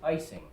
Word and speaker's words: Ising: I have a small comment, which is that Professor Ising was once asked how he pronounced his name, and he said that when he spoke to German audiences, he said his name was Ernst Ising.